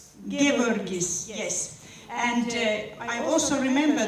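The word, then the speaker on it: Geevarghese: Gevorgis, yes.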